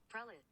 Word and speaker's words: prelate: Prelate. Shut the fuck up. prelate rhymes with zealot.